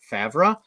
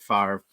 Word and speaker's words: Favre: I'm doing this because I like to joke around and say Brett favra knowing full well that is Brett Favre of course I'm from Green Bay um I know his name is Brett Favre but it's really fun